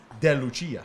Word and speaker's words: De Lucia: tongue you know but remember what alex corado said de lucia i know which is probably the proper it is the proper